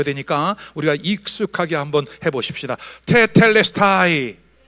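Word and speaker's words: τετέλεσται: 테텔레스타이. 와, 여러분 그리스 사람 같아요. 헬라 사람 같아요. 거의 원어 발음이에요.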